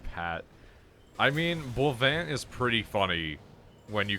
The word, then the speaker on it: Boivin: Oh, that's how you say it, not Boivin? Yeah, he is not Patrick Boivin, he is Bovin.